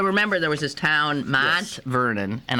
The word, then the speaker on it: Mont Vernon: So remember, there was this town, Mont Vernon, and I'm not saying that with a Pittsburgh accent. Yeah. That's just Mont. It's the French pronunciation.